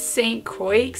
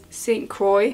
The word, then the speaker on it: St. Croix: I think it's St. Croix. St. Croix. I'm gonna assume the X is silent.